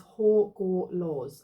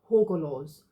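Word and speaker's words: Hagalaz: It says here, pronunciation is Horgorlaws. Okay, so I said that wrong. Horgorlaws.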